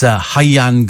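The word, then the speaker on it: Rhian: And Steve, the Welsh pronunciation is Hyan Griffith, says Jill.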